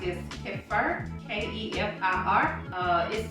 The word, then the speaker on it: kefir: I don't know how to pronounce this. Kefir, K-E-F-I-R.